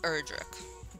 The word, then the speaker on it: Erdrick: It's pronounced Erdrick.